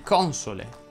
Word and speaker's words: console: parole sdrucciole sappi che se quella sdrucciola porta a l'accento sulla o quella o va pronunciata dovresti dire infatti console tropici vomito monaco vomero off